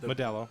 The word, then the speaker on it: Modelo: Modelo.